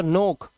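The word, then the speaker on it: knock: इसी तरह से दस्तक देने के लिए दरवाजे पे ठक ठक ठक करते हैं तो नोक, यहां पर हम सिर्फ नोक पढ़ रहे हैं, के साइलेंट है, देखो आप देख सकते हो।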